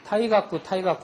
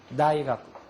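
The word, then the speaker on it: 大学: 그냥 타이가쿠 하다가 퇴학 맞은 줄 알았다고. 그러니까 타가 아니고 앞에 발음이 있다고 생각하고 다이가쿠, 다이가쿠, 다이가쿠, 소다.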